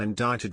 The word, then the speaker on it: indicted: amazing LOL these stupid Democrats can't even spell indicted right I've never heard it with the sea